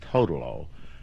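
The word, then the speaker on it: Toodle-Oo: Well, what actually happened, we started out calling it the Toodaloo, and of course the printer obviously made a mistake and put another O in it or something.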